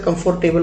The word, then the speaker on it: comfortable: अब इसे लोग अक्सर कंफर्टेबल पढ़ते हैं, बट the word is कंफर्टेबल। Correct pronunciation याद रखिए, The room is comfortable.